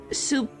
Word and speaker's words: soupçon: And yes, somewhat surprisingly, C is pronounced like an S. Soupçon?